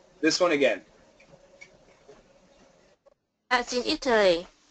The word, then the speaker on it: Italy: one again that's in Italy good try a flap T Italy Italy it it Italy